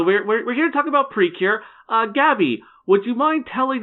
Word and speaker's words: Precure: want to call it, it's technically it was called Pretty Cure, but then the way Japanese syllables, they sort of kind of meshed it together, and now it's Precure and whatever.